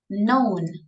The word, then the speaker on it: known: this word you repeat known okay we don't pronounce the letter K so if we had